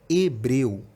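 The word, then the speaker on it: hebril: 5 fonemas isso porque a primeira letra a letra h ela não tem pronúncia é uma letra muda né quando a gente fala Hebreu que tirar a letra h daí a gente tem o mesmo som ou seja a palavra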